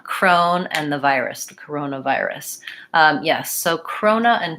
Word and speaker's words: corona: blend Corona Corona and so the main difference here when I'm talking about corona virus is that I don't want to leave this syllable out I don't really want to call it corona virus because it sounds different I need a syllable there although your observation is